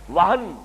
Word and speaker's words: وہن: یہ واو ہا اور نون ہے، ہمارے ہاں زیادہ لفظ مستعمل وہم ہے، اور میم اور نون میں تلفظ میں ذرا بڑا قریب ہے صوتی اعتبار سے، تو سمجھ لیجئے وہم نہیں ہے، وہن، وہن سے لفظ توہین،